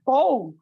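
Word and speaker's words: תו: শেষটা ওখানে লেখা আছে তও আপনি গীত সংীত 119 অধ্যায় 169 পদ খুলে দেখবেন লেখা আছে উপরে তও এটা তও হবে না। উচ্চারণটা হলো ত।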